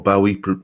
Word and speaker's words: Bowie: um uh who else David Bo or Bowie depending on you pronounce it rick perfett went about